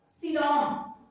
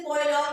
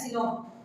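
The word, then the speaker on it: coelom: Okay, so let's discuss about सीलोम, या फिर इसे कोइलॉन भी बहुत लोग कहते हैं, कुछ लोग कोलॉन कहते हैं, लेकिन इसका रियल प्रोनाउंसिएशन क्या है? सीलोम।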